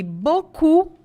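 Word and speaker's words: beaucoup: bocu é o muito outra dica de pronúncia aí esse e a u gente escreve um monte de vogal e fala só o É isso mesmo e a u ou a u o som é de o em francês então ó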